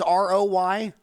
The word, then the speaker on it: ROI: And my dad's name, the founder, is Roy, so we pronounce it Roy Corp. Roy Corp. So he was ROY?